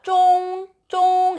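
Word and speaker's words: 中: 자, 가운데는요, 쫑 이렇게 발음을 해요. 중국어 할 때 쭝이 아니라 쫑오에 가까운 발음이에요.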